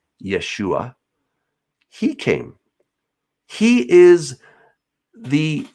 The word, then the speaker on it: Yeshua: in the first century his name would have been pronounced yeshua he came he is